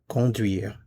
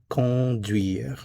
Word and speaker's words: conduire: There is no n sound. It's con. This is a nasal vowel.